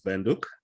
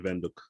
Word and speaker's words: Windhoek: Okay, so they call it Windhoek because I call it Windhoek. So yeah, it's people pronounce it differently. It sounds kind of German. So yeah, it is German, yes.